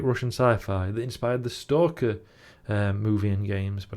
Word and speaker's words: Stalker: tell um and he he mispronounce every time he pronounced it stala and I remember at first going like stala what film's that you never read stala and then realizing eventually it was stalker like it took a